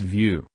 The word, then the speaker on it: Vue: for building web interfaces vu it pronounced view is a progressive framework